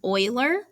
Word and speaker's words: Euler: by this guy named euler so sometimes it's called euler's constant and i know that doesn't look like euler but i promise that's how you pronounce it he was a famous